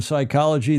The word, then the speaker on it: psychology: In psychology, the P is silent.